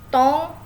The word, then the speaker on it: ton: Nah, yang tong ini dibacanya tong.